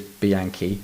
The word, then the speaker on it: Bianchi: of that bike who is an Italian is Bianchi I'm sorry there we go and pivot Cycles